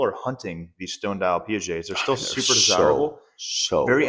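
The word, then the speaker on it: Piaget: It's P it's Pette. No, it's PJ. PJ cuz he's French cuz they don't pronounce a T.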